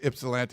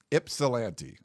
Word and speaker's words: Ypsilanti: Then someone sent me, they said the Y sounds like an I.